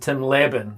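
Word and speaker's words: Lebbon: do this terrible tour okay so apparently let's pronounced Tim leban yes uh author of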